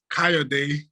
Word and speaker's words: Kayode: ko it's my initial uh my name is kaya day a lot delay so i'm nigerian i'm from